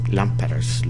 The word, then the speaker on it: lámparas: Lámparas. Look at the accent on the first A.